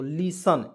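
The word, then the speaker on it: listen: ठीक है यहां देखिए एल आई से ली हो जाए इसमें एस को मतलब कि साइलेंट करते हैं टी ई एन से होता है सन यहां प टी ई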